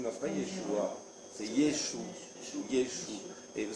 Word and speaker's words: Yeshua: Yeshua, non, c'est pas Yeshua, c'est Yeshua.